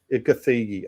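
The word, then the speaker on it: Gathegi: Is that is that how you pronounce his name? Ed Ciggy. Gthigi.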